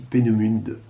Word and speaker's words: Peenemünde: En allemand, on doit prononcer les E à la fin. Je dis Peenemünde.